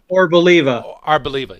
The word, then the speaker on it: Arboliva: and the Pokemon Moltres and how do you pronounce that other one, Doug? Arboliva.